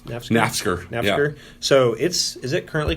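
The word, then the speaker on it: Naftzger: How do you pronounce that park's name? Nafsker.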